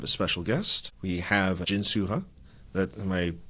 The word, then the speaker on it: Jin-Soo Huh: We have Jins Suha. That am I pronouncing your name? Jin Suha.